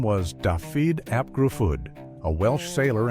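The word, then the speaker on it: Dafydd: And as they grew, Daffyd, a name that in Welsh is pronounced roughly as Davy, attached itself to the mythology of the sea's judgment.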